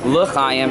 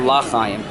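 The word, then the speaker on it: לחיים: says very strongly that we need to pronounce it with L, like the two dots underneath the Shva, L'chaim, and not L'chaim, because L'chaim could get interpreted as Lo Chaim.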